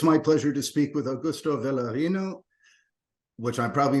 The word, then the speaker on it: Augusto: My name is Augusto, so the first name you pronounced it correctly.